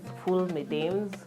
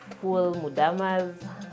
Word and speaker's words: Ful medames: So that dish is full medames or full mudamas. The pronunciation varies depending on where you're coming from.